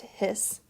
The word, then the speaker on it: His: the bundle of hiss it's spelled his but pronounced hiss you can see partway